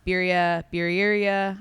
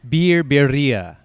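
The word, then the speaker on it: birria: I always say it wrong. Alendez. Is it biria? It's like beer beria. Beer biria. Beria. Beria. It's like, you know, you know, like takaria like the Yeah. Takaria. You have to add the uh Can you not roll your Rs?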